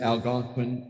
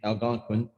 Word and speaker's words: Algonquin: The Montauk Indians were considered Algonquin Indians. Algonquin, that's spelled A-L-G-O-N-Q-U-I-N, Algonquin. So the word Montauk is associated with Algonquin Indians.